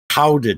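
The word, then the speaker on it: Gouda: like the Netherlands and I I called it guda cheese and he got really mad he says it's actually pronounced Howa cheese GE I'm not saying that I'm just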